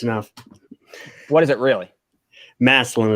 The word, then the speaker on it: Massillon: Massillon is what us locals call Massillon. Massillon, Ohio.